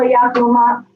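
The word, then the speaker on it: Yacu: Could you spell that for us? Do you know how to spell Yakuma?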